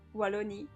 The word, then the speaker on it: Wallonie: Walloon, you mean? Is that how you say it in English? I know it was called like this. Yeah, it's Wallonie in French.